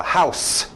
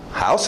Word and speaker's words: house: House. House, vocês conhecem? House. Existe o verbo to house. Eu mudo esse som no final. A escrita não muda.